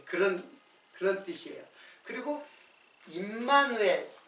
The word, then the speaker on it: 임마누엘: 그리고 임마누엘. 이제 원래 발음은 엠마누엘이에요. 근데 이거는 하나님이 우리와 함께 계시다. 자, 이게 이제 엠마누엘의 이제 뜻이고, 이것도 역시 예수, 처녀가 잉태의 아들 낳으니 그 이름을 임마누엘이라.